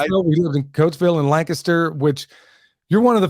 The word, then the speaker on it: Lancaster: lived in Coatesville and Lancaster which you're one of the few people that would understand that we pronounce it Lancaster not yeah Lancaster as everybody else oh yeah man I'm